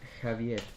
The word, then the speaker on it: Javier: don't know your name my name is Javier that's the proper Spanish pronunciation Cav awkward silence but